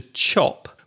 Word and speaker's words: chop: So you're throwing out more air with the CH sound.